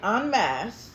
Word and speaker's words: en masse: of us collectively, as I've been saying it en masse, and if you don't know how that's spelled, it's E-N space M-A-S-S-E.